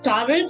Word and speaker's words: tarot: Again, it's not tarot, it is tarot. The T is silent.